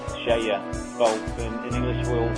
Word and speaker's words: Skeie: Well, the company, we pronounce it in Norwegian is like Skeie. Well, in English we'll say it is Skeie.